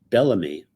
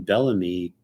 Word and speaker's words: Bellamy: you have me or it's spelled here m y but it's pronounced me so m e me is also an abbreviation for Mandela effect so just the name Bellamy could mean translate that